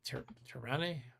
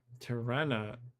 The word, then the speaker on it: Tirana: How do you say that? Tirane? Tirana. It's spelled with an A at the end, according to my Googling.